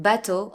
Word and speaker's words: bateau: But EAU is O, like in bateau or chapeau.